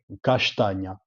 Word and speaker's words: castagna: Allora, io a Castagna so di Bastia e abbiamo una pronuncia appena speciale perché a S e a T femo sh, Castagna.